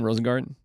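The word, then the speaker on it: Rosengarten: right yep that how you say his name rosengarden what a year he's had as the right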